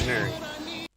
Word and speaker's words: Gennari: And we kept saying Gennari because it's an Italian name, and I kept pronouncing it in an Italian way.